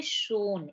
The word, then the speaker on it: schon: देखिए ऐड करके, स plus O equal to शो। और एन का अगर हम देखेंगे तो हिंदी वर्जन क्या आ जाएगा? न, ना। तो ये क्या बन गया? यहाँ पे शोन, इसका प्रोनाउंसिएशन हो गया शोन।